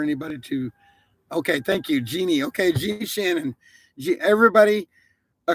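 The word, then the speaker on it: Jeanne: clarify it is actually jeannie shannon it's j e a n n e shannon and it's pronounced genie not gene so there there's a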